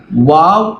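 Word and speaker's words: واو: മൂന്നാമത്തത് വാവ്. നമ്മൾ ഇംഗ്ലീഷിലൊക്കെ WOW ഇല്ലേ, വാവ് എന്നൊക്കെ നമ്മൾ പറയാറില്ലേ, അതുപോലെ തന്നെ വാവ്. നമ്മുടെ നാട്ടിലൊരു തെറ്റായ രീതി എന്ന് പറഞ്ഞാൽ വ എന്ന് പറയും. അത് തെറ്റാണ്. ശരിക്കുള്ള ഉച്ചാരണം വാവ് എന്നാണ്.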